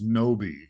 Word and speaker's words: Gnowbe: start off by asking you we I mentioned noi uh and you're a founder of that and the CEO what is noi it's a great great question so first of